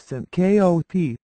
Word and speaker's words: syncope: to an emergency room it is pronounced Sy kop Syncopy is due to